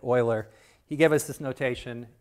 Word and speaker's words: Euler: The name is pronounced Euler. It might not look like it, but that's how you say it-- Euler.